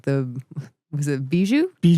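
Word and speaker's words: Bijou: Theaters with names like the Was it Beiju? Beiju.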